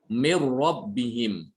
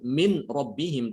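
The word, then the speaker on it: مِن رَّبِّهِم: Seakan-akan nunnya itu hilang. Seakan-akan nunnya itu tidak dibaca. Mir rabbihim. Jadi bacanya bukan min rabbihim, tapi mir rabbihim.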